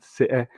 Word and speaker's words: Citeh: Trust me, all of you in the chat, this is Citeh Intelligent Agendas. I'm working on it. The T is silent. Citeh Intelligent Agendas.